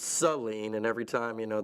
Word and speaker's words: Saline: The town that I'm from in Michigan is actually pronounced Seline and every time you know they're like, "Oh, it's saline."